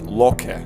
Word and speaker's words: Loki: First off, you'll know this guy is Loki, but his actual name is pronounced Loki.